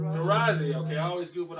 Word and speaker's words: Taraji: How do you pronounce her first name correctly? Taraji? Taraji.